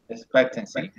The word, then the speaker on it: expectancy: is a 87 years the forest stress goes in the second in second syllable expectancy exactly very years expectancy